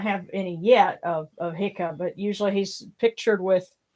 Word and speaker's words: Heka: ka yeah and uh I usually say it hia because the uh the the Coptic derivative has actually an eye at the beginning of like hick the short eye yeah so um that's